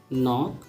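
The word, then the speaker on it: knock: के बाद यदि एन है तो के अक्सर साइलेंट होता है। जैसे इसे नी, न्यू, नॉक, नाइफ।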